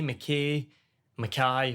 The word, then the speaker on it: Mackay: So it can be Mackay, Mackay, which is how you say mine.